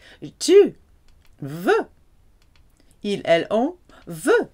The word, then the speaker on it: veut: Il, elle, on veut. Sounds the same, but this time spelt with a T.